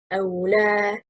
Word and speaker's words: أو لا: أو لا means do not. It is two words. The stress is on harakatil lam. It gives lam its function. It is أو plus a negative lam.